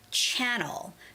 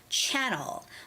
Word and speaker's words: channel: because of the stress for example the word channel channel this word is very similar to the the word Chanel Chanel you know that brand